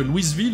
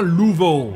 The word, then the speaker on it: Louisville: pour votre culture que Louisville est situé dans le Kentucky et que ça ne se prononce pas Louisville mais bien louvau en tout cas c'est comme ça que le prononcent les Américains mais étant donné qu'on